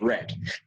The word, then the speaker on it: read: The pronunciation here is read. Aquí la pronunciación sería read. Aquí read, y en participio también se pronuncia red. In participle, you also pronounce it red. Just like the color red. Just like the color red. Suena igualito que el color rojo, ¿no?